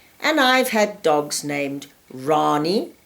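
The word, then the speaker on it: Wrani: I personally like very interesting and different names, and I've had dogs named Rani, spelled with a W, W-R-A-N-I.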